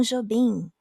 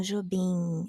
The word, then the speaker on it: Jobim: Tom Jobim, like also it's like Tom Jobim, not Tom Jobim. It's not an M sound, it's an N sound.